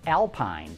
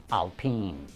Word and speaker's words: Alpine: know the name looks like it should be pronounced Alpine but the proper pronunciation is Alpine the Michigan State Police evaluated cop cars from